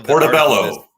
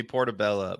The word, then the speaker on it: portobello: it's uh anyway uh in the title Portobello portobello mushroom all right don't call me portabella uh Hal 2023 balanced schedule could affect